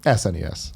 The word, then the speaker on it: SNES: What's the correct way? SNES.